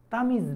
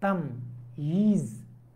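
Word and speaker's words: تمييز: তাহলে আকরাবু লাকুম নাফা, নাফানটা কি হবে, তাময়িজ হবে, তামিজ না তাময়িজ, এখানে দুইটা ইয়া উচ্চারণ করতে হবে।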